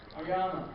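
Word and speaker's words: Aoyama: Y'all are going to kill me if I mispronounce his name. Oyama.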